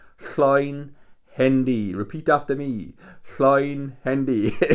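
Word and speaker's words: Llwynhendy: It was in a place called Llawn Hendy. Llawn Hendy.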